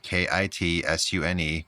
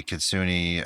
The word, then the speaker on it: kitsune: I know you probably want to put a picture in there, but k i t s u n e kitsune. Oh, okay. Um Japanese shape-shifting fox spirits. Mhm. In Japanese mythology, kitsune are fox spirits.